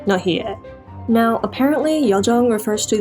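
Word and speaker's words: 나의: Also, I've noticed that whenever the syllable is used specifically in this context, it usually relaxes into more of an e or ye sound, so nahi-e.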